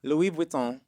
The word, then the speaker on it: Louis Vuitton: Louis Vuitton.